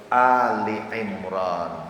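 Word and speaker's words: آل عمران: Maka alunya bunyinya jadi Ali. Suratu Ali Imran.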